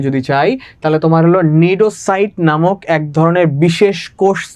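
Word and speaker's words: cnidocyte: আমার প্রোনাউন্সিয়েশন হবে নিডোসাইট।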